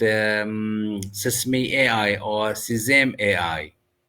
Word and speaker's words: Sesame AI: میں نے ایک خاص سوال کیا ہے۔ اہ اس کا تلفظ ام سیسم اے آئی یا سم اے آئی ہے۔ زبردست سوال۔ نام